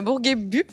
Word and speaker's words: Bourguébus: Alors effectivement, je suis née à Bourguébus. Généralement, les gens disent toujours Bourguébus parce qu'il y a un S à la fin qui sert pas à grand chose, mais on le prononce pas du coup.